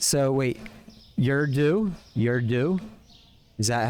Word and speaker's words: Urdu: So it's Urdu. Almost like the U silent, and you're saying and then do, huh?